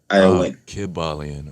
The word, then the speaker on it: Kybalion: Is it KYBALION? Kabbalion. Okay. Like Kyber Crystal, yeah.